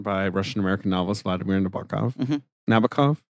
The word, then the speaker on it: Nabokov: novels Vladimir Nabokov navikov I'm pretty sure I was corrected by someone who's who's read The Sweep of them so Navica um yeah I don't know it's that middle syllable that gets the punch but you can do whatever you want with it you know it was